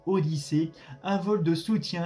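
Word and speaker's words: Odissea: participé à la mission Yanisé. Alors, désolé, j'ai mal prononcé. Donc Odyssée, un vol de soutien à la station spatiale internationale.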